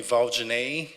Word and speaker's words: Valdinei: I put it there, so Val, and we don't pronounce the L's the same way that Americans do. So it's not Val, it's Val. The D-I we pronounce as G, and Ney is the last part of the name.